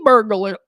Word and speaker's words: burglar: Felony burglar. Burglar. Are we learning right now that I can't pronounce burglary? Burglar. It's an L.